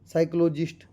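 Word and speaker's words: psychologist: Alarm उ lump आपका आ जाता है साइकोलॉजिस्ट। ठीक है? पी साइलेंट होता है साइकोलॉजिस्ट में।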